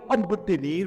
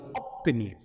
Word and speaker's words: obtenir: Maintenant, quand vous avez à l'écrit la lettre B, suivi par ce ou P, B ne se prononce pas P, mais se prononce P. On ne doit pas dire observer, mais on dit observer, observation. On ne doit pas dire obtenir, mais on va dire obtenir.